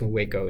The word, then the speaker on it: Waco: uh wo Texas I have double check the pronunciation of that, but I think it's Waco in the end.